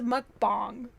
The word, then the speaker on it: mukbang: And it's pronounced mukbang.